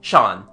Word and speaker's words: Jean: he goes to AA the local pronunciation turns jean into Shan he is called Shan